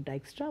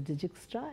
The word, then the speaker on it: Dijkstra: it's not pronounced as digits try its plan said Dijkstra basically he was Dutch and that's why this Dyk e Stra ok the pronunciation is this ok IJ is pronounced as I in Dutch ok so this is